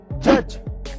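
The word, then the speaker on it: judge: Number 1, अगर किसी word में जी से पहले डी आए तो उसमें डी साइलेंट रहता है, जैसे कि ब्रिज, जज, नॉलेज।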